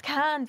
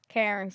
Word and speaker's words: Cairns: Yeah, apparently it's Cairns, but like... They just don't pronounce the R.